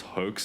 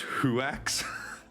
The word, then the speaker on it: hoax: My sister mispronounces hoax and says huax.